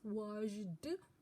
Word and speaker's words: washed: it's not pronounced as washed it is pronounced as t washed can everybody say